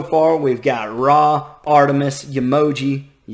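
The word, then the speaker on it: Yemoja: And so far we've got Ra, Artemis, Yamoja, like an emoji? No, Yamoja, and I may be mispronouncing some of these, Cocokhan, and Ymir.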